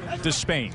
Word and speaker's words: Despaigne: despain by the way we went a couple years with everybody saying your danis desp that's how it was to be pronounced and he said last night you know what despain so that's what we go with despain my contest from this